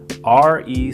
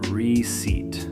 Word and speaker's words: receipt: R-E-C-E-I-P-T. That P in the middle, totally silent. It's receipt, not receipt.